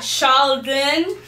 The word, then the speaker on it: Charldyn: And we got Charldyn. Did I say it right? Yes. Okay, good. Finally. We got Charldyn.